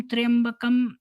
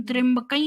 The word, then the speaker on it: त्र्यंबकं: महामृत्युंजय मंत्र, तो हुँ, ये मंत्र सुनना, ओम त्र्यंबकं यजामहे सुगंधिं पुष्टिवर्धनम् पुष्टिवर्धनम् उर्वारुकमिव बन्धनान् हुँ, मृत्योर्मुक्षीयमामृतात्। हुँ, तो इसमें ये पहला जो लाइन है, ओम त्र्यंबकं यजामहे, त्र्यंबकम् ओम यजामहे त्र्यंबकं यजामहे, ओम त्र्यंबकै